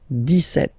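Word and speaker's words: dix-sept: But then for the pronunciation, 17. Okay, so you don't insist on the S.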